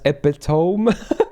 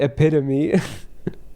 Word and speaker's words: epitome: cuz a lot of people when they see the spelling they would pronounce it as epitome cuz to is a word right and Epi is like EP Epi from epic right but you literally pronounce it epitomy it's not epitome it's